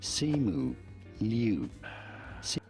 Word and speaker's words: Simu Liu: How do you pronounce his name? Say it. Simu Liu.